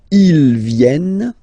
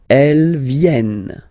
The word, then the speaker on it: viennent: And the rule in French is that when you get this and a double vowel after, you will have to pronounce this like eh. Alright? So vienne, vienne, vienne, vienne. Okay? Ils viennent, elles viennent. Ils viennent, elles viennent. Alright? E-N-T, you don't pronounce them. Ils viennent, elles viennent.